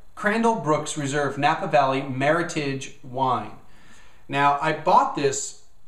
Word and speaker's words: Meritage: Meritage first of all Meritage is Meritage not Meritage Meritage supposed to rhyme with Heritage it's supposed to be Merit and Heritage together and what they do